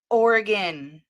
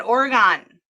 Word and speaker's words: Oregon: It's Oregon. He became upset. He started pushing her around. He told her he was going to beat her ass. And She probably mispronounced Oregon and said Oregon.